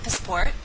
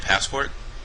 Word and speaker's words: passport: You will first hear the missing word pronounced with incorrect word stress. Listen closely as the word stress is corrected by the second speaker.